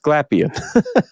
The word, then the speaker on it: Glapion: And I realized when I heard Mandy from Comic Sketch Art say his name that I've been saying it wrong all these years, but it's pronounced Glapion.